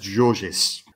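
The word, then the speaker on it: Gorgis: The thing is, I think it's pronounced Georges, right. But it's spelled Gorgeous.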